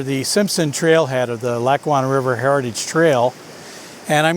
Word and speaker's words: Lackawanna: lac one heritage river lake wanna river heritage trail i don't know how many times i've said that but i can never say it properly it's the lackawanna river heritage trail i'm 7 km along